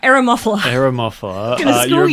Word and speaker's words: Eremophila: Like a lot of the Aromaphilias, I'm like, You're a bit How too... dare you? Okay, you're not even saying it right. Eremophila.